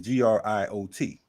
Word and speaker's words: griot: But that spelling is not, griot is GRIOT, not GRIO. So he already stepping in the game on some bullshit. You know what I mean? So it's like griot, but it's pronounced griot.